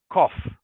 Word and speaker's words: cough: is cough cough yes the pronunciation is very different from the way it is written so we just say cough so one more